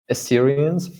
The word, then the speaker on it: Assyrians: The Babylonians, for instance, and even more notably, I don't know how to pronounce Assyrians. Assyrians.